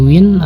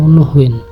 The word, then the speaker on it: Nguyen: Vietnam yang bernama nguyen pengucapan ngen Vietnam memiliki beberapa dialeg yang berbeda dengan pembagian terbesar di antara mereka adalah geografis yaitu utara dan selatan bahasa Vietnam Selatan cenderung memotong beberapa suaranya jadi nguyen Akan diucapkan seperti Win atau w sementara Vietnam Utara akan mempertahankannya memberikan pengucapan lebih seperti di Win atau nuhwin semua dilakukan sebaik mungkin dalam satu suku kata namun popularitas namanguen tidak